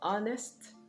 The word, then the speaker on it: honest: again all right so the letter h is silent in honest honor hour it is also silent